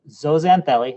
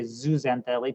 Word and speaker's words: zooxanthellae: a symbiotic relationship with zosantheli if it's easy to remember you could say zooxanthellae people pronounce it both ways and they actually take